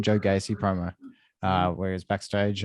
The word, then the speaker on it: Gacy: That's how you say his name, Joe Gacy promo.